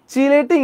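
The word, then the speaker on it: chelating: অবস্থান্তর ধাতুগুলাকে খাইয়া ফেলে সো এটার বাংলায় বলা হয় কিলেটিং এজেন্ট বাট আমরা যখন কেমিস্ট্রিতে পড়ি ইংলিশে যখন পড়ি সো এগুলা হচ্ছে চিলেটিং এজেন্ট এগুলো কি চিলেটিং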